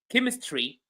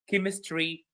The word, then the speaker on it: chemistry: So, chemistry, character, school, mechanic. All of these words are pronounced or have a ch which is pronounced as good.